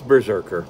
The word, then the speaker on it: BRZRKR: called berserker or whatever it's berserker but it's spelt weird b r z r k r burger you know whatever